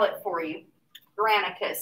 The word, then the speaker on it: Granicus: Granicus. It's spelled exactly like it sounds, Granicus.